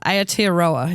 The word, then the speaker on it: Aotearoa: Aotearoa. Is that how you say it? Oh, wow. The way you say New Zealand, that's the Maori way of saying Is it now?